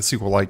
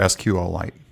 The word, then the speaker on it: SQLite: to go ahead and or SQLite is the actual correct way to say it I believe.